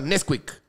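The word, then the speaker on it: NSQK: Se llama Nesquik. Pero se escribe N-S-Q-K. Nesquik. N-S-Q-K.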